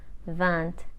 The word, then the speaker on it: vingt: the vant cat Neff prompt we know 20 is pronounced van the G and the T are silent but when it is